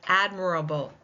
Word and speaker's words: admirable: Let's look at admirable. Admirable. Again, four syllables. Admirable. Which one is taking the stress?